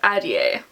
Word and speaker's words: Ahdieh: is The Wrath and the Dawn by Renee Ahdieh.